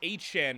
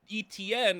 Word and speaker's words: Achane: and his name is I guess we pronounce this Achane now, you know, formerly what we thought was Etienne, I guess it's Achane now, so I guess I'm calling him Achane.